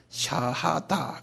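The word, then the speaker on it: شهادة: 그다음에 다 샤하다 그래 이거 이거 우리 다 알아둘 필요 있어요. 한번 발음해 보실래요?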